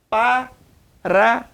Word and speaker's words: Paraná: Se você dividir Paraná, o forte é o na, correto?